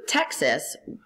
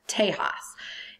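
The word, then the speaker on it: Tejas: story about that so Texas once belonged to Mexico it wasn't pronounced Texas it was pronounced Tas and Tas was land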